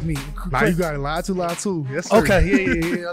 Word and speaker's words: Laiatu Latu: Laiatu Latu.